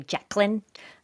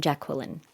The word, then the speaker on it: Jacqueline: I spell it the French way. You know, not saying I'm better than her or anything. So I'm not actually Jacqueline. I'm Jacqueline. Jacqueline or Jacqueline in French.